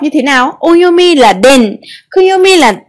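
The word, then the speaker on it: 田: Vậy chữ điền này gồm có cách đọc như thế nào? Oyomi là đền, kuyomi là tha hoặc đa.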